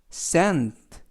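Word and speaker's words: scent: 이러한 뜻을 가지고 있습니다 애쓰는 쓱 그리고 뒤에 오는 쓰이는 묵음 이구요 ena 에 해는 느 튀는 특 그래서 센 센 라고 발음합니다 뜻은 향기 라는 뜻입니다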